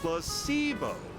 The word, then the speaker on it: placebo: today repeat after me Placebo the stress is on the middle syll plus sibo yeah very